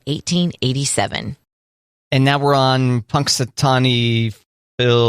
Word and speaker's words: Punxsutawney: this day in 1887 Punxsutawney I'm saying that wrong Punxsutawney I thought you said it right the first time Punk sutani and Punxsutawney